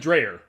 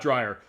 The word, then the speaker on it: Dreyer: that or scott dreyer it looks like drayer but okay fine the way it's spelled but fine scott dryer all right thank you